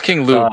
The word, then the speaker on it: King Lube: Yeah, no, it's King Lube. Remember the K is silent, you know, because it was like, you know, and when you say gnome, the K is silent. Yep.